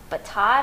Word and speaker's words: Batad: Stephen West pattern, and it's called Batad, I think is how you say it. It's B-A-T-A-D, and it's really pretty.